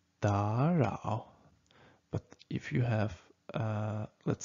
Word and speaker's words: 打扰: Just remember, because you have two third tones here, you should change the first third tone to the second one.